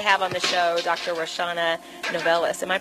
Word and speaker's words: Roshawnna Novellus: reshawna novellas am i pronouncing it correctly oh yeah okay great well